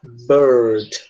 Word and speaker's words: bird: Americano vai pronunciar bird, tá? É como se esse R que a gente está pronunciando, a gente pronuncia ele bem forte. Bird. É como se fosse aquele R de, entre aspas, caipira que a gente aprende, né? Que é muito comum no interior de São Paulo, tipo de porteira, porta, portão, carteira.